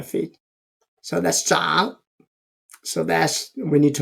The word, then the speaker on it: 長: Zhang. Another pronouncing of this character is zhang, longer.